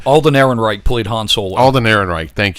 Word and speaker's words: Alden Ehrenreich: like Scott you said he just you know enric Center however the you say his name Alden Ehrenreich plead Hansel Alden Ehrenreich thank you uh that